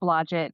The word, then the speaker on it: Blodgett: It's Blodgett, but thank you. Wait, I thought it was I've heard it pronounced Stephanie.